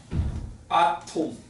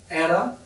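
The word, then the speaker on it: atom: 아톰. 너무 한국식 발음이냐? 에럼 아지.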